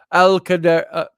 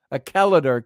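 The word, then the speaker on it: Achallader: Glencoe, to come to Alcadar, Acaladar Castle. Acaladar Castle. There you go. Get my emphasis on the right syllable.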